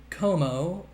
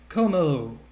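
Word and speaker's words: Kommo-o: And then Como. I don't know if the other O after the dash is silent, but you know, what can you do?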